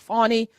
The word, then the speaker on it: Fani: all about old old Fanny or fny or it's funny she she pronounced her own name we gonna call her what she call herself fonny fonny tiifa Willis okay let